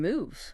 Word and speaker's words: move: And move. Moves, 1 syllable. Ends with an oo sound, like into.